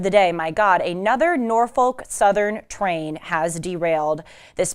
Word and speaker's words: Norfolk: By the way, some people pronounce it Norfolk Southern. Other people pronounce it, and I have to be careful because I've been known to slip up on this word, I can't say it. I can't pronounce, Sean's cracking up. Basically, they say it without the L, and then it kind of comes out like a certain curse word.